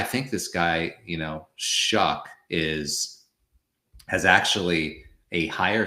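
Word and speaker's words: Shough: benched Spencer Rattler and they're going with Tyler Shuck. That's how it's pronounced. Shuck. Even though if you look at it, you would say Sha. Yes, Tyler Shia, but it's actually pronounced shuck.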